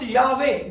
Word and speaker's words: Yahweh: It's going to be pronounced Yahweh.